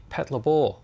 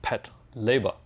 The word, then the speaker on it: Patlabor: this particular kit of the ingram from the pat labor series actually i've been saying pat labor for a very long time but after doing a little bit of research it's actually meant to be pronounced pat leiber because in japanese the uh where is it